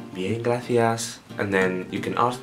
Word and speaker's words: gracias: And when you have a C-I sound, or C-E or Z sound, you always pronounce it T-H in like English. So when in English you have the, there, there are, etc. In Spanish you'd say the, so gracias.